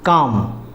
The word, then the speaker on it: calm: उसी तरह से काम, CALM, काम, मतलब शांत, इसमें भी एल साइलेंट होता है।